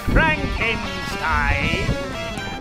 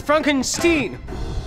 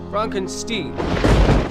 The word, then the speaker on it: Frankenstein: switch yes dr frankenstein that's frankenstein my name it's pronounced frankenstein how do you do